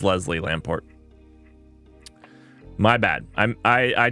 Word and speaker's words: Lamport: Leslie lamp poost name um I I probably mispronounce it uh not lamp post my goodness I'm an idiot uh Lamport it's Lamport it's Lamport Lamport clock there we